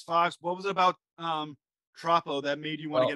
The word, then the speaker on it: Troppo: So your most recent project is, let me know if I'm pronouncing it correctly, Troppo?